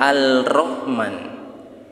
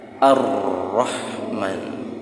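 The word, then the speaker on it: الرحمن: rotra tapi kenapa alif lam nya tidak terbaca Hai bukan Al Rohman tapi ar-rahman bukan and Rohman ada yang begitu kalau di tulisan Arab Begitu tulisan Arab masuk ke Indonesia al-rahman gitu strip tapi cara bacanya Gimana ar-rahman ada alif lam nya tetapi tidak terbaca Hai orangnya ada tapi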